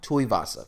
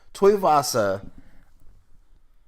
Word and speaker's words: Tuivasa: Tuivasa, correct. Thank you. Tuivasa is.